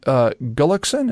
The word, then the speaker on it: Gullickson: Gullickson, am I pronouncing his name right?